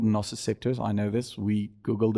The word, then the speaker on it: nociceptors: Nociceptors is the correct pronunciation if you're from the UK. Otherwise, it's nociceptors if you want to do American English, which is not a real language.